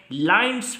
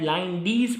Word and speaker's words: Linde: करने जा रहे हैं लाइन्स मेथड ऑफ लिक्विफेक्शन या लाइंडीज मेथड ऑफ लिक्विफेक्शन। तो प्रोनाउंसिएशन आपके ऊपर डिपेंड कर रही है।